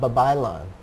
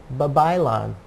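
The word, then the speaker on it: babaylan: it say it again babon b a b a y l a n that sounds like Babylon but it's okay babyon all right yes and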